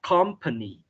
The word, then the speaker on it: company: Company thì ở đây là cái âm này thì em hay gọi là âm e lộn ngược, thì âm này thực chất là âm ơ, thì chúng ta sẽ đọc là company.